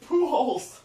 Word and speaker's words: Pujols: Tell him how to pronounce it. Pujols. It's Pujols.